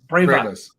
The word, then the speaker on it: Bravous: Scott is the founder of, I think, is it Bravous? Bravous, Brave right? us. Brave us. Brave us. Yeah. Brave us.